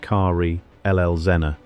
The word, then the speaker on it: Karl Elsener: This is the story of Karl Elsener, pronounced Car Elzener, the son of a Swiss